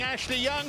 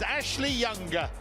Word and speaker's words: Ashley Young: the inter substitutes including Ashley young for the man who's just been announced in the stadium as Ashley younger that's a new way of life for him a new way of pronunciation Tonio Conte his only